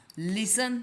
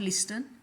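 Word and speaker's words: listen: लिसन, here and लिसन, इसका अर्थ हुआ सुनना, और इसका प्रोनाउंसिएशन हुआ लिसन नॉट लिस्टन। ओके, अब यहाँ पे मैं संगीत सुन रहा हूँ।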